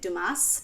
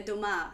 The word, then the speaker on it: Dumas: pronouncing his name correct I was pronouncing it Dumas but then I started reading the audiobook of this book and then it was like the Three Musketeers by Alexandre Dumar and I'm like Dumas every time it's a five-letter word and I can't pronounce it right that's insane to